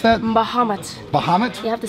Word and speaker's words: Bahamut: We got the, how do you pronounce that? Bahamut. Bahamut?